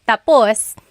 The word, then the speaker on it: tapos: So, when it's tap tapus, when the emphasis is at the end, tapos, that means finished. When the emphasis is on the first syllable tapos then it means next.